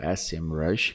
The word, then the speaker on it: SEMrush: E essa eu mostrei para você o BuzzSumo, mostrei o SEMrush, ou SEMrush, que seria a pronúncia corretíssima.